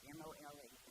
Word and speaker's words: mole: I think I'm saying it right. M O L E, but it's mole.